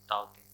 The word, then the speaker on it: Tauktae: तो जैसे देखिए तौकते इसने नाम दिया था यहाँ पे, तो उसने प्रोनाउंसिएशन भी दिया था यहाँ पे ताओते।